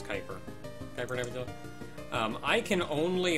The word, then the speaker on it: Kuiper: Kuiper Nebula, I think I mispronounced that again. I think it's Kuiper.